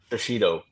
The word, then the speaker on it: Shishido: And how do you pronounce Shishido? Shishido.